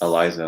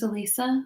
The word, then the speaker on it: Elisa: the headlines so yes eliza lam yeah um her name's elisa elisa i'm sorry so excuse me there's that yeah i said it right the first thing right just got wrong this star i mean